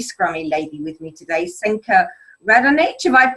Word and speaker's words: Senka Radonich: Now, I have a really scrummy lady with me today, Senka Radonich. Have I pronounced that correctly?